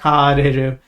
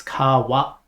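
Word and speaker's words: 買われる: It's not kareru, it's kawareru. So just like the negative form, we say kawanai, and here we say kawareru.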